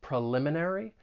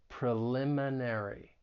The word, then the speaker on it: preliminary: you pronounce this word the stress is on the second syllable preliminary but it it's a longer word so it can be a bit challenging let's break it down and say it together preliminary preliminary preliminary excellent and